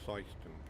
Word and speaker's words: Syston: So yes, it is pronounced Syston.